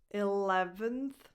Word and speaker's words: eleventh: In this one, the stress is on the second syllable, le. The first vowel is like a lax I, le. 11th. And the last vowel is a schwa, unstressed. 11th.